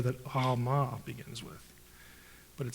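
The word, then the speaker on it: עלמה: Now, in Hebrew, it's Alma. The letter is pronounced in the back of the throat. And that's why it gets transliterated sometimes with a G in certain books, like Gomorrah. It actually begins with the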